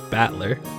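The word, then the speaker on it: Battler: The problem is my given name is made up of the characters for fight and person and it's pronounced batler.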